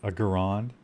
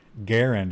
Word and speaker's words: Garand: this guy had a Garron garand however you want to pronounce it garand I think is the pretty correct pronunciation because that guy was